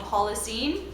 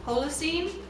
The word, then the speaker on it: Holocene: the song is called Holocene. Holocene? I believe you can pronounce it either way.